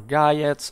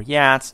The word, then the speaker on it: Geats: Hello everyone, today we talk briefly about the Geats or Geats or Yats or Yats or Yatas or Geats or Jets. There are different ways pronouncing the name of this North Germanic people inhabiting the today's southern Swedish land, or in fact Götaland, right?